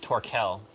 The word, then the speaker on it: TorqueL: It's pronounced TorqueL. Is it? I think. I'm pretty sure.